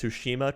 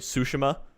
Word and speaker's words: Tsushima: because the first guy doesn't know how to pronounce tsushima correctly um and i was also hoping now he was the first guy on uh like narrating the video was like sushima and i was like no it's like no absolutely not